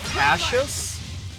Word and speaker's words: Cassius: I think actually it's Cassius. Yeah. Like you like it's spelled how you would assume Cassius, but I believe the way it was pronounced was actually like a sh sound.